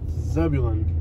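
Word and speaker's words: Zebulon: Sebulon? Is that a Bible name? Sebulon? Yeah. I know I'm pronouncing that one right. Zebulun.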